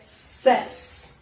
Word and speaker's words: says: A sua pronúncia ele vai mudar um pouquinho na terceira pessoa do singular. Então, vai ficar says, ok? He says, e não he says, ok? Então, he says.